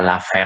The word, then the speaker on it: laver: Ya, lave itu artinya nyuci, dari kata laver tulisannya laver bacanya lave.